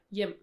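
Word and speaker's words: hjem: And it's one of those funny words with like a silent letter. Mhm. It's the H, it's silent. Yeah. We have those once in a while. And Yeah. here it's yim.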